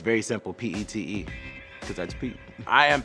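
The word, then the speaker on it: Pitre: My great-great-great-grandfather, his name was Leandre Petrie, but it's pronounced Pete.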